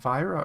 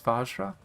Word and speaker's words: Vajra: Oh, I said it wrong. I said Vyra earlier. It looks like it's Vajra. Vajrapani. Might have Vajrapani. The J was covered earlier, so I thought it was an I.